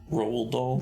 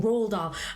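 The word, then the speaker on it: Roald Dahl: uh the the theatrical version uh the adaptation from the uh the original book from uh is it Ron Rald Doll Rald Doll.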